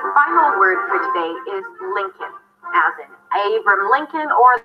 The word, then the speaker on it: Lincoln: You start with an L, Lin, with a relaxed is sound, and then it's a k sound, a schwa, and an N. Good. Lincoln.